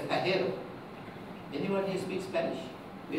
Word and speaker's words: Pajero: Now the Spanish pronounce that as Pajero.